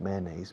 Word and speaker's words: mayonnaise: Mayonnaise, mayonnaise, mayonnaise, mayonnaise. Mayonnaise. A's. Casi como Asia. Como Asia.